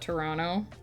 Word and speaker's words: Toronto: long term like uh when you see Toronto on a map you pronounce it Toronto but if you live there people just call it Toronto really say the second t this is looking much